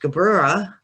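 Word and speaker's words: Gevurah: the tree is going up from this is pronounced gabrera and it means severity over here we have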